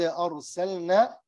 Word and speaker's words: أرسلنا: وَلَا قَدْ أَرْسَلْنَا أرسلنا also here the lam أرسل لام this lam إظهار make it clear because some people make mistake say أرسلنا like this أرسلنا they don't pronounce the lam so the proper is to pronounce them أرسلنا إلى ثمود أخاهم